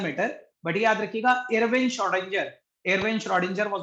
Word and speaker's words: Schrödinger: वैसे तो ये श्रोडिंजर होता है, हो सकता है आपके में स्क्रॉडिंजर या कुछ और बोल के बताएं, दैट डजंट मैटर, बट याद रखिएगा Irwin श्रोडिंजर, Irwin श्रोडिंजर वाज the name, complete name.